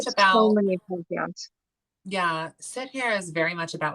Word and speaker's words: Sihr: Yeah, like with sit here. Sit here. I'm gonna spell it out in the chat. It's Sihr. Sit here.